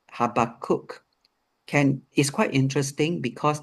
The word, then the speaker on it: Habakkuk: Uh the B is actually a V sound and that would be the same for Abraham.